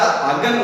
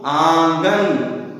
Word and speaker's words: आंगन: इसीलिए यदि हम इसको बोलेंगे तो आंगन, आंगन और आगन, तो शुद्ध रूप ये है आंगन।